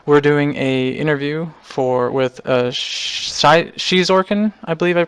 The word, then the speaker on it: Xizorken: And we're doing a interview with Xizorken. I believe I pronounced that correctly this time. Is that right? Yes, you did. Xizorken.